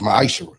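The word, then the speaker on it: מעשר: You can find this in the book of numbers 18 21 in the book of Malachi 3 8-10 means 10th in Hebrew it's pronounced misher 10% of every penny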